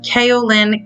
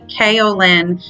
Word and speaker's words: kaolin: and 1 tablespoon of kaolin clay i've been saying it wrong i know it's actually kaolin clay you can find it